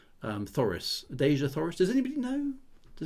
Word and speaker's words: Thoris: I'm assuming it's a soft TH rather than Taurus or Taurus. Thoris.